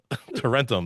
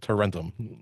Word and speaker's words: Tarentum: it's cheaper to rent them. Tarentum, that's the name of the town. Tarentum. And that's how you remember how to say it. Tarentum.